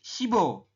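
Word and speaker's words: 십오: Jadi shibo. Kita bacanya adalah shibo. Tulisannya sip o tapi dibacanya shibo.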